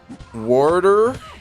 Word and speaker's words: water: right back at you warder is how we pronounce it in south jersey but water also gets